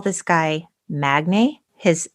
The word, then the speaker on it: Magne: And I'm going to call this guy Magne. His name is spelled Magne.